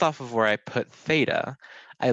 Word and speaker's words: theta: and so this is a greek letter so theta that's how you kind of draw it it's